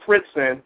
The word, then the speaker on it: Fritzing: So if you ever get a chance, after the webcast, I would encourage you all to Google Fritzen. It's spelled Fritzing, and of course it's on the diagram there.